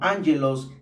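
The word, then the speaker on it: ἄγγελος: Ángelos, pronunciado como ángelos, que significa mensajero o ángel, y logos, que significa estudio, palabra, materia o cosa.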